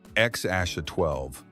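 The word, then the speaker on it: X Æ A-12: People struggled to pronounce it until Musk said it was X Aasha 12.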